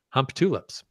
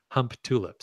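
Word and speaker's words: Humptulips: the town name is hump tulips and I'm pretty sure you don't pronounce it that way but it literally spells hump tulips that's pretty much how I've always heard it pronounced that's the only way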